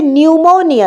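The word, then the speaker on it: pneumonia: Next হচ্ছে নিউমোনিয়া, নিউমোনিয়াতে পিটা কিন্তু প্রোনাউন্স হচ্ছে না, অথচ পি একটা সামনে আছে, the word begins with a পি।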